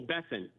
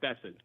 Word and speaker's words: Bessent: I tell people Bessent, like Crescent. He may not like that, but Bessent.